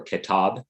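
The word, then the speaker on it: كتاب: All Baha'is know this work, or kitab is how you pronounce it in Persian.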